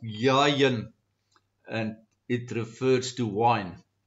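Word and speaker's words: יין: Yod Yod Nun, and it's pronounced Yayin, and it refers to wine.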